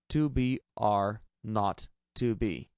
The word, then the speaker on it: 2 B R 0 2 B: The 0 in the telephone number he pronounced not. The number was 2BR not 2B.